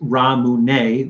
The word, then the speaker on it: Ramune: flavor actually it's pronounced ramune the way the japanese pronounced lemonade yeah oh i did